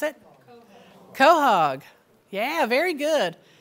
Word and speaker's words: quahog: And then we have the northern, how do you pronounce it? Quahog.